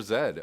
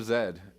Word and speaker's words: Z: guys uh about run out of time Hunter Z thank you so much for your Super Chat Kevin one tiny tiny complaint the pronunciation of Z is so wrong I'm from